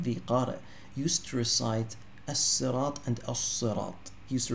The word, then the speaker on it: الصراط: So as-sirat is pronounced in three different ways. As-sirat, as-sirat, and az-zirat. Okay, az-zirat.